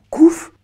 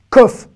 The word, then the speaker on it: Kouf: qu'on va voir aujourd'hui, qui est le kouf ou le kof. Là encore, tout le monde n'est pas d'accord sur comment on appelle cette lettre.